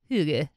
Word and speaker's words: hygge: Hygge, and sometimes hygge.